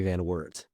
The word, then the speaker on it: Van Wert: your surname oh no the American pronunciation of it is Van Wart excellent thank you